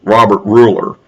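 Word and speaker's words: Gruler: lawyer actually known as robert ruler oh it's spelled with a g the g is silent in this case um who um is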